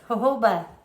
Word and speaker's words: jojoba: So Larry says this is pronounced, how is it pronounced, Larry? Jojoba. Jojoba. It's J-O-J, I don't know, you guys. Jojoba, not jojoba.